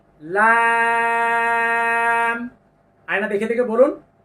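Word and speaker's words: ل: হরফটির নাম হলো লাম জিহ্বার আগার কিনারা তারপর উপরের দাঁতের মা সঙ্গে লাগিয়ে লাম আয়না দেখে দেখে বলুন লাম তারপরের হরফটি লক্ষ্য করুন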